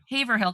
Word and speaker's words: Haverhill: So he was living in what I called Haverhill. No, I called it Haverhill. Haverhill, because it's Haver. He's like, it's Haverhill. I'm like, no, there's syllables.